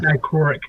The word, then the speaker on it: dichroic: It's dichroic.